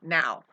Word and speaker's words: know: is in all w the k is silent in the word no no we say